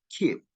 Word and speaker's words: keep: So we pronounce this keep, not keep, but keep. Okay, so we don't release p sound.